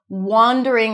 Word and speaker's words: wandering: So, distinguish that word wandering that is pronounced with the O's and father. Wander around versus wonder. That's a cup sound spelled with O.